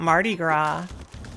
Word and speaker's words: Mardi Gras: Oh, how about Mardi Gras? You know Mardi Gras, Miss Dan? How about the S on the end of that one. Yeah, you don't pronounce it.